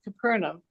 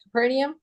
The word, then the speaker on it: Capernaum: Declining this offer he journeyed on with a caravan train to Capernaum. How do you say that? Capernium. Capernium. Either one's correct. I've heard it pronounced both ways.